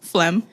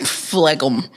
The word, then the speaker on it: phlegm: P H L E G M. Where does the G come from? Flegum.